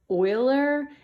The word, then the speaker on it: Euler: this there's this guy his last name was Euler even though he spelled it like this we just say it it's pronounced Euler even though it is spelled and